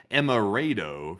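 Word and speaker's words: Emerado: He said, "Don't forget about Emirado, North Dakota. It's pronounced Emirado, FYI."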